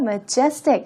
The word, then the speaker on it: majestic: majesty의 형용사형입니다. 그래서 발음 조금 바뀌고요. majestic 하면서 강세의 위치가 달라집니다.